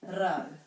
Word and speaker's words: rau: So 100 is kotahi rau. Rau. So this word rhymes with this part up here, kau.